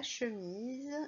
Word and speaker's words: chemise: Alors, la chemise, j'entends Z comme dans valise. Donc, je vais écrire la chemise avec le son Z de valise. C'est la lettre S qui fait Z.